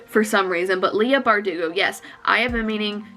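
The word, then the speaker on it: Leigh Bardugo: i don't know if i'm saying it right leah bardugo i am saying it right it just seemed wrong for some reason but leah bardugo yes i have a meaning to read these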